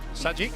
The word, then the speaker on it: Sajik: PDT, live from the Sajik Indoor, is that how you say it? Sajik, yeah.